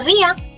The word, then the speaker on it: rien: Just the way we say bien, we say rien.